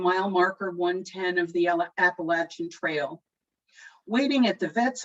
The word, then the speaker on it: Appalachia: tales from the trail they're interested in how local mountain folks pronounce appalachia not being a native i leave it to the gent who helps them out with a tip i'll throw an apple at you which brings two big